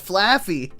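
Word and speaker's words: Flaaffy: I'm going to go a Rare Candy and a Laffy Taffy. Is it Laffy? How do you spell it? Is it Laffy? It is. Oh, it's Flaffy.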